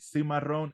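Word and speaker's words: Seamarron: is called Cimarron Farmstead Cimarron s-e-a-m-a-r-r-o-n Farmstead Marin like uh uh maroon so we spell it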